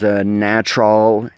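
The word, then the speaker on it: Gnatrol: to control that is a product called natural it's spelled jee-in a TR o l natural and it is basically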